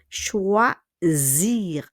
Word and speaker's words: choisir: Choisir. Attention, le S will be pronounced as Z. Choisir. Choix. Hindi choice, ne? In English is choice, choose, no. This is choisir. Le S will become Z.